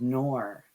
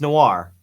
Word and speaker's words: Noir: No one pronounces it right. It's noir. It's noir. The movies. Noir, like a movie.